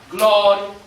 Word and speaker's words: Gloria: Gloria, Gloria, accent every single time, the first syllable.